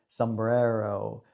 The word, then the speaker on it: sombrero: me in terms of how to say the word Sombrero with a little Mexican rolled R and flare on that R and yeah for the